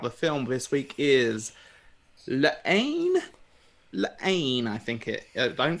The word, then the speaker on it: La Haine: film this week is lane i think it i don't think you pronounce the h kia told me that he said you don't pronounce the h it's i don't know